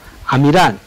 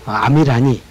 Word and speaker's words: 아미라니: 그래서 아미란 이렇게 부르지만 아미라니 이렇게 부르고요.